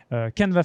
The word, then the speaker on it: Canevas: Et donc, si vous avez Instagram, Canva Fatal sur Instagram, tout attaché, CANEVAS FATAL, tout simplement. N'oubliez pas le S, très important, même si on ne le prononce pas, il est là.